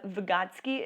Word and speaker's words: Vygotsky: child's life again his name is Vygotsky Lev Vygotsky is how you say it and so again